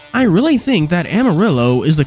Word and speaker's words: Amarillo: not pronouncing that wrong that is genuinely how the city in Texas is pronounced I really think that Amarillo is the correct pronunciation